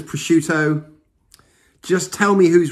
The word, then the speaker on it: prosciutto: wrong all these times i've been pronouncing it prescutio assuming that the double t was kind of like a shh what are you saying my wife says prosciutto just tell me who's